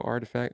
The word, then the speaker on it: RTFKT: collectibles saying they acquired artifact artifact is spelled rtfkt the acquisition announcement comes